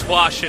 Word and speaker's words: Hwasin: Oh yeah, and that is how you say his name. It is Hwasin. I did ask it because that name is pretty hard to pronounce when you look at it.